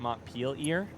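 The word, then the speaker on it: Montpelier: You pronounce it. M peel ear.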